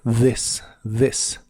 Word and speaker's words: this: significa esto como vimos la th de esta palabra se pronuncia como de vibrante This this y usaremos las palabras